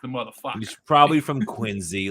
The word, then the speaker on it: Quincy: I think that's often a subway mispronounced as Quincy, but it's actually Quincy.